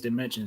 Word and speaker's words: Damencion: From Another Dimension or think of it as that math word dimension I like that that